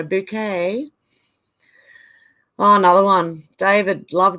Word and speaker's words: Bucket: oh yeah Mrs bouquet it's spelled bucket but she yes no bouquet oh another one David